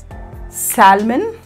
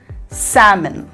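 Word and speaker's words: salmon: இதோடைய correct pronunciation என்னென்னா comment, kangaroo, fuel, ஆமண்ட், சாமன். இது ரெண்டில் எல் எல் இருக்குது பாருங்க, இந்த ரெண்டு எல்லுமே சைலண்ட். இது ஆல்மண்ட் இல்லை ஆமண்ட், சால்மன் இல்லை சாமன்.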